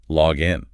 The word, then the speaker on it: login: But when we use the noun, the single word referring to the credentials, the stress falls heavily on the first syllable. Listen to the noun. Here is my login.